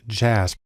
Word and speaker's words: JASP: a program called jasb it's actually pronounced jazz which is sort of